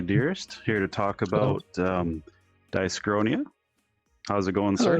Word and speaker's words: Dyschronia: it's Dyschronia.